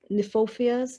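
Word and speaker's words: Kniphofia: And the red hot pokers, I think they're also known as Niphofias. It starts with a K-N-I, Niphofias.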